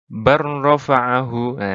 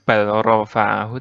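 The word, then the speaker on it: بل رفعه: Tulisannya seperti ini, bacanya barrofa'ahu, langsung. Jadi bukan balrofa'ahu, tapi barrofa'ahu gitu.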